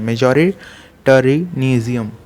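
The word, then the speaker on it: majoritarianism: मेजॉरिटेरिज्म इन श्रीलंका, ऐसे प्रोनाउंस करते हैं, मेजॉरिटेरिज्म, ठीक।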